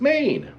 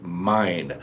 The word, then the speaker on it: Myne: to the main character the main character is main actually it's not made it's mine there was a little bit of confusion as